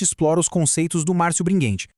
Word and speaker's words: Bringhenti: E é com essa visão gigantesca que a gente explora os conceitos do Márcio Bringuente, que aliás a gente pronuncia bringuente com som de gué, tá?